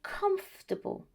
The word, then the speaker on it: comfortable: But in these two words, vegetable and comfortable, able is not the stressed syllable, and so the pronunciation changes. And what happens? It becomes vegetable and comfortable.